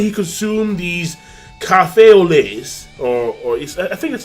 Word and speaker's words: lait: So apparently he consumed these café au lait, or I think that's how you say it in French, or lait, or la. I know that like the T is silent, but whatever.